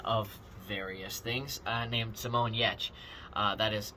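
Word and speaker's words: Simone Giertz: this maker uh of various things uh named simon yetch that is not spelled uh like it is pronounced again links to all of these uh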